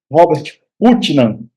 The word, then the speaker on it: Robert Putnam: Bom, a pronúncia aqui é aportuguesada, certo? Estou pronunciando como está escrito. Robert Putnam.